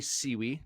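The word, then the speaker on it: Siewe: I am joined by the Python Huntress herself, Amy Siwi. Did I pronounce that last name right?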